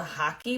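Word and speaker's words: hake: have a specialty brush this is called a hockey brush it's spelled h-a-k-e they're made in Japan um they're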